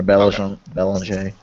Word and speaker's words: Belanger: Bellinger? Yeah, or Belanger, as he pronounces it. No, that's just being French.